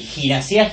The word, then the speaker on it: Gasa: clásico ya de nosotros el gasa gimnas sin la m con acento en la a viene a lo nuestro